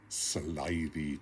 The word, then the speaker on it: slithy: has been often asked of me how to pronounce slithy tubes the eye in slidey is long as